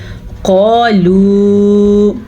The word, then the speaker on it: قالوا: بسم اللہ الرحمن الرحیم۔ قالوا، قاف کو موٹا پڑھنا ہے، یہ قاف ہمیشہ ہی موٹا پڑھا جاتا ہے۔ اگلے لفظ میں لام